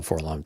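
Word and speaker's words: 4-LOM: It's actually for LOM, apparently. No, it's Forlom. It's like ADAT.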